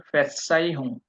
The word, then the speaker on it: Verzeihung: এই যে ওয়ার্ডের একে একে কি বলে আপনার অ্যালফাবেটের ইয়েগুলো ধরতে হইতেছেন, যে ভি এর উচ্চারণ আমরা বলছি কি ফাও, এফ এর মতো হবে, আর জেড এর উচ্চারণ সেট, চ এর মতো, ঠিক।